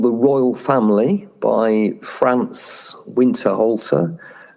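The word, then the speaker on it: Winterhalter: 1846, a picture called the royal family by France Winter Halter. I guess that should be pronounced winter halter.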